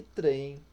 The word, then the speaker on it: trem: né pronuncia-se com u e trem que pronuncia-se com i ok muito bom e